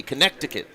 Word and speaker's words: Connecticut: Oh, Tay, good to see you checking in again with us with a silent C. Connecticut.